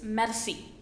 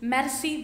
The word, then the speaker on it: merci: say Maxie see when the French people they pronounce the alphabet are they give a lot of stress are so thank you is merci thank you very much is merci beaucoup merci beaucoup and when somebody says thank